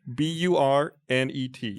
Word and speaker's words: Burnet: Well, That's a how- lot of people say Burnett. Burnett. Oh. But I've heard many people say Burnett. I feel like that would need two T's and possibly an E.